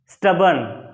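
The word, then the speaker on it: stubborn: से इसको पढ़ना है आर तो साइलेंट है यहां पर और एस को भी आधा सा पढ़ना है स्टब्बर्न देखो लिख दिया इन वेरिएबल यह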